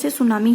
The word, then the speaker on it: tsunami: हैं को मैक्सिमम करेंगे सुनामी सुनामी इन इंग्लिश में टीस्पून किया जाता है छुट्टी है इसमें वह साइलेंट होता है इसलिए सुनामी ही बोला जाता है तो नामी शब्द को